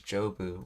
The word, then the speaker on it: 丈夫: Oh, it's pronouncing this as jobu.